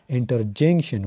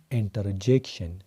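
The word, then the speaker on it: interjection: ما اوریدلی څه کسان کنجنکشن ته کنجکشن وي او انټرجیکشن ته انټرجنکشن وي. غلطي وي الټی وي. دا به وایي کنجنکشن او دا بل به وایي انټرجیکشن.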